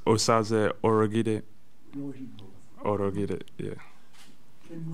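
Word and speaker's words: Osaze Urhoghide: Just speaking of languages, how is your name meant to be pronounced? That's an enigma to many people. Yeah, so it's Osaze Orogide.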